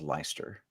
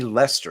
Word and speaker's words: Leicester: I can't believe I said it was Leicester. I just couldn't believe it'd be Lester because that's just Lester, Lester.